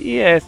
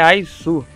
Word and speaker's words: Is: Eu chamo ele de IS, mas não, a pronúncia dele é Aizu.